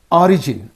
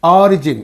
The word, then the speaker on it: origin: original so here this when it is a noun it is receiving on the first syllable when it is an